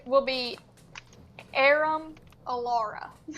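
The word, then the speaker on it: Aurum: Oh, so her name is Aram. How do you spell that? A U R U M. Arum.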